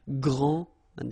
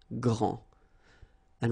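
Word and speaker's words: grande: final s okay so gr and then same thing here gr and regarding the feminine form you will pronounce it Grand okay don't insist on the final but then pronounce this D Grand and then exactly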